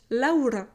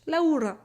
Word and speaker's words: Laura: It's really like you're singing it, my name in Spanish. Laura. Laura in French, it's normal. Laura, you have a potato into your mouth, you know, when you're saying my name in English.